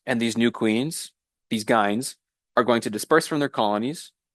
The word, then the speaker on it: gyne: then also new queens, which we call at this stage gynes. It's spelled Gyne, plural is Gynes, and those gynes are going to be next year's queens.